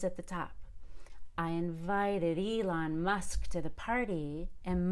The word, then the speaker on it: Elon: the highest pitch now we don't want to change Elon musk's name so I cannot say he invited Dylan absolutely not Elon cannot be d-line it has to be Elon so I invited invited